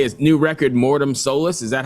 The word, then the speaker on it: Mortem Solis: say is new record Mortem Solis. Is that how you pronounce it?